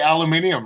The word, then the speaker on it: aluminium: Well, it's like what the English say aluminium, right? I like that. I actually like that. No, they pronounce it the correct way to say it.